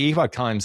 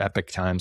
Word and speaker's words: Epoch Times: But the Epoch Times is kind of, or Epic Times, I think is how they like to pronounce it, is kind of an interesting story.